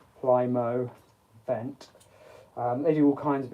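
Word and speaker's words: Plymovent: it yeah Prime event it took me a while to actually pronounce that I was like Plymouth Plymouth event Plymouth then is pl-y-m-o-v-e-n-t Plymouth vent um there's all kinds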